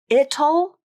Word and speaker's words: it'll: So that's why this T turns into a flap, but it's going to be the flap. So just trust me. It'll becomes it'll, just like in the word little or Italy. Okay, it'll.